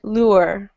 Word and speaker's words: lure: lure and so here you'll hear different variations especially from Americans you might hear something like lur and you might hear lure okay so any the u sound changes depending on um you know where you're from right but it's the